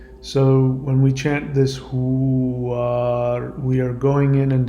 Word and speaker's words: Huar: It is spelled H-U-A-R, Huar, and it is the mantra for this particular moment.